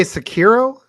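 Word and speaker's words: Sekiro: think it was like it's definitely the correct way is yeah everything stays flat there's no emphasis on different syllables yeah it's three three uh hiragana well all right well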